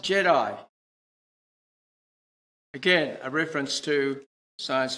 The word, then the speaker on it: GEDI: Although the name is GEDI, it's pronounced Jedi.